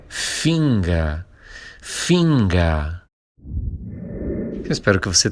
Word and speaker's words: Finger: Mas finga, esse ER final que a gente pronuncia como uma espécie de A, né?